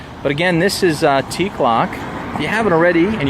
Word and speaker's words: Teacloc: It's spelled T-E-A-C-L-O-C. That's T-E-A-C-L-O-C. No K's in it, but it does sound like it has K's in it.